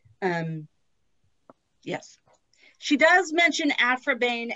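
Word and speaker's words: Aphra Behn: sorry isn't it afro bane jane austen should have laid a wreath upon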